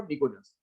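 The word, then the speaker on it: pnictogens: गया, क्या लिखा गया, निकोजेंस। क्या बोलते हैं इसको, निकोजेंस। पी साइलेंट है, निकोजेंस बोला जाता है।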